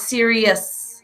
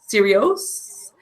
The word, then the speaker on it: serious: The second one is serious. Serious. Serious. Serious. Serious. So even though it ends in O-U-S and it looks like os, serios, it's serious.